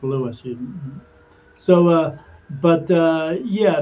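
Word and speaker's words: Lewes: People call it Oh, I'm going to lose beach. No, it's Lewis.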